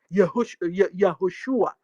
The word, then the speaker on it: Yahoshua: Yahoshua. That's the way they pronounce it. Even Onyendu calls him that way.